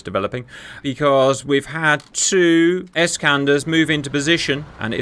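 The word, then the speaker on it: Iskander: And I find the next part of the battle is developing because we've had two escanders move into position and it is pronounced escander apparently by the way.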